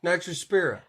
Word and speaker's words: Nitrospira: Nitrospira. Oh, well. And it it takes nitrite into nitrate. Pronunciation is not my forte.